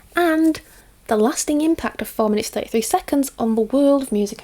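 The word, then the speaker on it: 4′33″: John Cage's 4 minutes 33, it's pronounced 4 minutes 33 seconds apparently, is arguably one of the most revolutionary and debated pieces of music in the 20th century.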